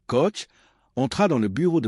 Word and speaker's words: Koch: Le colonel Oscar Koch, prononcé Koch, entra dans le bureau de Patton avec une pile de rapports de renseignement qui allaient changer le cours de la guerre.